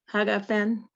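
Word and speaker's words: הַגָּפֶן: It's a gimel. Haga. Oh, that's Fen. Right. So put it together. Haga Fen.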